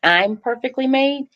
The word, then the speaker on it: IMperfeKtlymade: say this that the the pronunciation for the foundation it's I'm perfectly made I am uhuh so